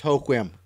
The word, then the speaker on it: Hoquiam: It can be found outside of I was born Hoquiam. It's pronounced Hoquiam.